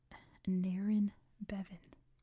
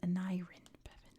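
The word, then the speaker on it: Aneurin Bevan: I have to remember how to say it. Naren Bevan. And Naren Bevan, that's how you say his name.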